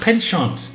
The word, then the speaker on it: penchant: What penchant? Penchant. Penchant. But you're speaking like a Frenchman. Yeah, but that's how you pronounce it. No, I say pension.